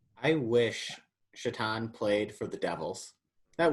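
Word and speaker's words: Šatan: player but i guess everybody calls him satan which that's exactly how his last name is spelled i wish chaton played for the devils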